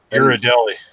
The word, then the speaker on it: Ghirardelli: Ghirardelli. He is Ghirardelli's. Ghirardelli. You fucked me on that one. I was waiting for him to say it. Well, he said Ghirardelli, so I was sure it was going to